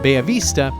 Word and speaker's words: Bella Vista: Finca Bellavista forebay Avista as it's pronounced in spanish they're quite different from thinking Ellen Huerta which I featured in our last episode Alan huerto only produces and Mills their own coffee Bay Avista produces their own coffee